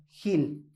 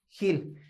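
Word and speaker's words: גיל: La palabra aquí, alegría, es la palabra hebrea Gil. Gil. Esta sí se pronuncia Gil.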